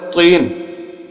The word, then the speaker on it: طین: اندر تا بولتے ہیں۔ اور دوسرا لفظ ہے طین، جو توئیں کے ساتھ، توئیں اور زوئیں، توئیں کے ساتھ، اس کا معنی ہے مٹی۔ اب یہ دیکھیں، اگر